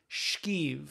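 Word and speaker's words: skeeve: No, you're missing an H. It's not skeev, it's shkeev.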